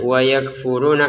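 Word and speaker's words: وَيَكْفُرُونَ: Nah, di sini wa yakfuruna ya, wa yakfuruna, kafnya ada letupan nafas sedikit ya.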